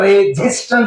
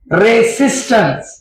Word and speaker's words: resistance: उच्चार करताना रेझिस्टन्स असा नाही करायचा, रेसिस्टन्स, सिस.